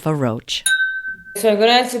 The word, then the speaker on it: Roche: How do you pronounce your last name as well? It's Roach. The spelling is very misleading.